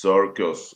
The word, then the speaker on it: Cirkus: And circus is sirus. It's the same as in English.